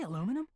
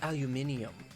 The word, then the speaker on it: aluminium: break room hold on did you say aluminum it's pronounced aluminium if so then there's